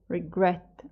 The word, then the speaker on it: regret: in this verb surfer regret stress that means that we put more emphasis with the regret on the second syllable however we do not